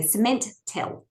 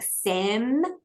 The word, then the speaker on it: Cementel: So there was a brand called Cementel, but some people used to say Cementel. And I'd be like, no, like Sem-in-tel, like cement intelligence.